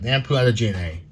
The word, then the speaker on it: Lamp Do Alangina: Yep, Lampu Alangina.